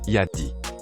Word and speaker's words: Yadea: à charge rapide attention le nom de cette marque chinoise yadeas se prononce Yadi retenez ce nom parce